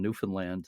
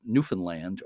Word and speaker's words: Newfoundland: but anyway, the way people there uh pronounce it is Newfoundland. Or even a lot of them will put the accent on the last syllable like Newfoundland.